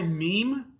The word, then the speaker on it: meme: That's why meme rhymes with the word gene in a slant rhyme.